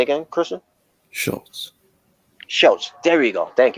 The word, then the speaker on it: Schultz: Schultz. Schultz. There you go. Thank you. I was having hard time pronouncing it.